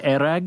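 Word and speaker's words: airag: so they pronounce it there erag. Yeah. When I was in Kazakhstan, another place, they call it kumus, but in Mongolia it's erag.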